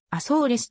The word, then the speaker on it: Açores: 区でもある透明の発音はポルトガル語ではアソーレスとなるポルトガル沖約 1000km